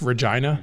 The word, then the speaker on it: Regina: it's reg it looks like Regina but it's pronounced Regina Regina oh rhymes with fun yeah I get it